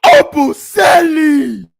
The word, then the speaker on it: Obumseli: Why the fuck do they keep mispronouncing his name? It's Christian Obumseli.